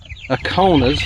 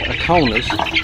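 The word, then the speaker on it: Ancona: These are all Buff Orpingtons, Dominickers, Aconas, I think is how you say it, Aconas, and then Easter eggers.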